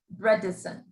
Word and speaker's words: Bredesen: with dementia could you repeat that his name is spelled b r e d e d-e-s-e-n bredesen it's kind of a tough protocol it's strict